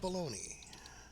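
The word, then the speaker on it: bologna: a y blogna but though it is pronounced baloney ah yes go to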